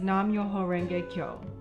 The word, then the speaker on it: Nam-myoho-renge-kyo: daishonin's buddhism the essence of this practice is nam-myoho-renge-kyo pronounced nam myoho kyo this is my cup of